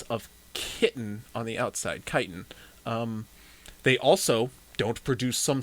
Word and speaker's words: chitin: the chitin was unusual the kite the kitten whatever i pronounce it as uh today um does not hard to nail down it's chitin i just always [ __